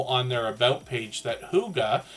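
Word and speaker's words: hygge: Huga Homestead lets us know on their about page that Huga, which is how we pronounce this H-Y-G-G-E here, means cozy, peaceful home in Danish.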